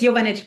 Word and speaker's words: Jovanic: It's Jovanic, but it's okay. Jovanic.